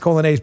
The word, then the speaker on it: Coglianese: Here's how you spell the last name, with us Italians. It's Coglianese, okay? It's pronounced Colonnese, but Coglianese.